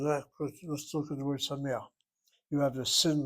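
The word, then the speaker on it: שמח: The accent's on the next syllable, which is CVC.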